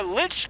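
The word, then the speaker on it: lych: and and father haines we're next to a lich gate i've seen them in england can you explain what that is sure good morning and welcome to st mary's church and churchyard a lich gate is named after the the the word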